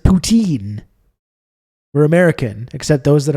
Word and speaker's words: poutine: just the regular ass Putin at level Provence which you can get all over the place please pronounce it poutine we're American except those